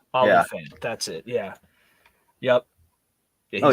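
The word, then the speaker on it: Olyphant: like that's how you say it it's like olifant or something like that olifant olifant that's it yeah yep oh yeah he's amazing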